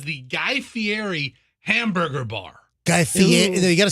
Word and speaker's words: Guy Fieri: Guy Fieri. You got to say the name right. It's Guy Fieri.